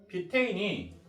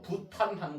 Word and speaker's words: 뷰테인: 뷰테인이 탄소 4개, 수소 10개 붙어 있는 겁니다. 그거를 옛날 발음으로 부탄하는 거예요. 뷰테인을.